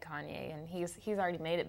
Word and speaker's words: Kanye: You called him Cayenne.